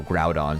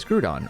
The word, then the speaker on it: Groudon: I didn't watch anime that included the proper pronunciation for certain Pokemon names so like Ash and Friends never said you know Groudon so for me it was always screwed on or uh I think it's Kyogre but I